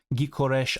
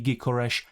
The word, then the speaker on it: Gyökeres: I think that's a pronunciation. I've seen so many people talk about this in the recent comment sections and stuff. I believe he has a Hungarian name because he's of Hungarian descent.